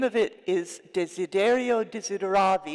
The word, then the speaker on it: Desiderio Desideravi: The name of it is Desiderio Desideravi.